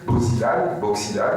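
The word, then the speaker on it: Bo Xilai: actuels, modernes, qui s'appelle, je le prononce entre la chinoise et la française, Boxilai, si vous voulez, quand on le dit en français.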